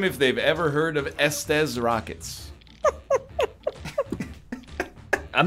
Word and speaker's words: Estes: I don't pronounce it that way. It's Estes.